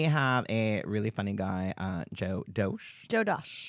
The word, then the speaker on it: Dosch: So we have a really funny guy, Dosch. Joe Dosch. Dosch. Yes. So funny. I couldn't pronounce his name right.